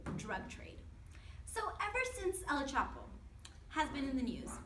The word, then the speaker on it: El Chapo: It's not El Chapo, it's El Chapo.